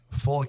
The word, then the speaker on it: folic: Is that pronounced folic or folic? Folic. Like FUL? FOLIC.